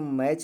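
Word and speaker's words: match: नहीं है लेकिन आप लोग ध्यान देंगे इसको मैच पढ़ा जाएगा मैच यानी टी क्या होगा साइलेंट होता है क्यों क्योंकि हमने बताया अगर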